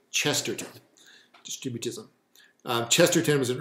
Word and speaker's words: Chesterton: chesterson not chester son chester chester g k chesterton distributism um chesterton was an early late 19th